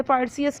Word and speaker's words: Perseus: इसको हमने पर्सियस क्यों प्रोनाउंस किया? क्योंकि पर्सियस PER पर SCUS पर्सियस एंड the Gorgon, ये ग्रीक स्टोरी है।